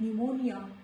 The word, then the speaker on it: pneumonia: Before letter N also, letter P is silent, like pneumonia, pneumatic.